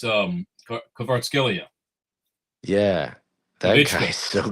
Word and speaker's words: Kvaratskhelia: It's Kvaratskhelia.